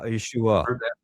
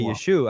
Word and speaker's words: Yeshua: But uh the proper way to say it at that time is a nasal back sound and it's a downward. So yes, it goes through your nose and down.